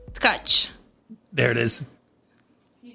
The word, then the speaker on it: Tcaci: and your last name is? No. No. Tcaci.